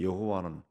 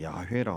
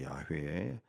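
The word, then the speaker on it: 야훼: 말이 여호와 여호와 여호와 히브리어로는 이제 그 발음 하면은 이제 원래 여호와는 그 어이 자음으로만 돼 있는데 그걸 이제 몸을 갖다 붙여 가지고 여호와라고 하는 거 야외라고 하는 거죠 야회 야를 우리로 번역해서 영어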